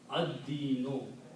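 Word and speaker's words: الدين: When you pronounce, you do not pronounce lam, instead of pronounce dal twice, because dal is a shamsi letter. So you put ad-dino.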